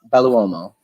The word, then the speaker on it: Belluomo: the scenes so let's all welcome baluomo how did i do that name wow phenomenal pronunciation i give you major props because a